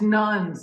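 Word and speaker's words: nones: 23 by the way I need to spell that out that's not n-u-n-s that's n o n e s just to clarify that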